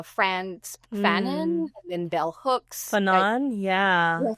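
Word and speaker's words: Fanon: Fannon. Yeah. Fannon.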